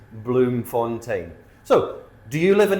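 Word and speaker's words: Bloemfontein: It doesn't look the way it sounds, but I did look it up. It is Bloom Fontaine.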